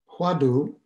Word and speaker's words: hwadu: uh which is below huadu is the korean pronunciation of the chinese word watto um and i notice